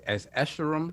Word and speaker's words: Escharum: LordCognito says Escharum. I'm butchering his name. I'm sorry, I don't know how to pronounce it. So what is it? How you pronounce it? It's Escharum.